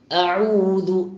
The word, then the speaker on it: أعوذ: പലർക്കും തുടക്കത്തിൽ ഹംസയും രണ്ടാമത്തത് ഐനുമാകുമ്പോൾ ഔദു ഓ എന്നൊരു ഒകാരം വരാറുണ്ട്. അങ്ങനെ വരാൻ പാടില്ല. അഊദു അഊദു അഊദു പറഞ്ഞു തന്നെ പരിശീലിക്കേണ്ടതാണ്.